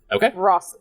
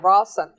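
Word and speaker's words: Hrafn: awesome uh uh boston it's not russia it is spelled h-r-a-f-m oh okay rossen the sun god rock got it fair yeah raw sun uh it it's basically old norse for raven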